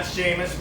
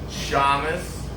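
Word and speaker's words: Shammas: It's not Seamus Malik. Shamus Malik.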